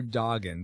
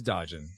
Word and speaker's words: Dodgen: It sounds like you're saying Doggin, but yeah, it is Dodgen.